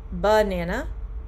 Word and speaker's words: banana: banana so you have the first a is the uh it's the stressed banana banana banana right banana so stress in the first uh and then the last a is also a a short u but it is the unstressed banana the banana wasn't ripe